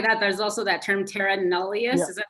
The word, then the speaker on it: terra nullius: And not only that, there's also that term terra nullius.